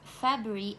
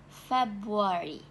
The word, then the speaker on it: February: So Malaysian usually pronounce February as February, while the correct pronunciation based on British pronunciation is February.